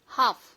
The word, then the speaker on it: half: Hi everyone, silent letters. L silent words. Talk, మాట్లాడు. Walk, నడుచుట. Half, సగము.